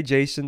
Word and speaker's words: Jason: the next one is yason again that's just how I pronounce it if you want to say Jason that's fine but you know I try to do the Greek one and this arguably would